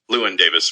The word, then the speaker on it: Llewyn: showing of Llewellyn Davis, inside Llewellyn Davis. Llewyn Davis, my bad. I say Llewellyn Davis because there's a restaurant back home called Llewellyn, and I feel like it's spelled the same way, even though it's not.